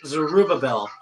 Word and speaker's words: Zerubbabel: For these 7 rejoice to see the plumb line in the hand of Zerubbabel. Is that how you say it? Zerubbabel? You're reading the key verse? Yes, the key verse. Yeah, that's Zerubbabel.